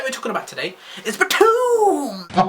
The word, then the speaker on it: Btooom!: Anime that we're talking about today is Btooom! Exactly as I just said it.